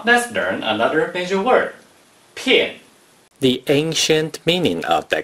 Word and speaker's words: 片: 片 is the fourth tone.